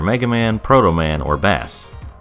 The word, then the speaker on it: Bass: Man, Proto Man, or Bass. I'm sure they wanted me to pronounce it Bass, but they shouldn't have spelled it like the fish name.